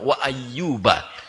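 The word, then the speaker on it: وَأَيُّوبَ: Bisa bagi Allah mengatakan wa ayyubu, tapi di sini Allah memulai dengan fathah wa ayyuba.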